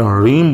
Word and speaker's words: ह्रीम: ये जो मैं ह्रीम बोल रहा हूं, कुछ लोग उसको ह्रीम बोलते हैं, लेकिन आपको रा का उच्चारण करना है। लेकिन रा का उच्चारण जो है वो आपको गले से नहीं करना है, आपको पेट से करना है। रा, जब आप पेट से रा बोलेंगे तो री ऐसा निकलेगा।